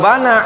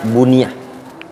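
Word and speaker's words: بُنِيَ: Walau bana alal qabri masjidun naha anhu aidan, atau nuhiya anhu aidan bittifaqil ulama. Kalau seandainya bunya alal kubur, dibangun di atas kuburan itu masjidun, itu bacanya bunya.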